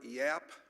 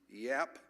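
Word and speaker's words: Yaap: Yap, that's spelled Y-A-A-P, Yap, who is from Mission Viejo, California, but his roots are here in Tulsa.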